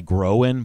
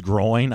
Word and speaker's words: groin: ago for some reason I always want to call it a grow in but I guess it's growing I always say the wrong